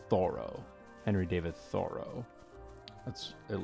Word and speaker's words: Thoreau: David Thoreau uh I believe he his name was he pronounced his own name thorough Henry David Thoreau that's